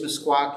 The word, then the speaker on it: Meskwaki: T and they are sometimes known as the uh the the fox um but correctly it is msaki and it is spelled mes k w Ki uh sometimes it's been spelled with a q q i e but the K spelling is the one the